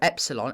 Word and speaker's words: epsilon: But importantly, this is a short E sound. A short E sound. So a kind of eh. Like in bet.